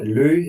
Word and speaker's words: Løh: as a middle name and then my surname Lou is actually from my father's side which is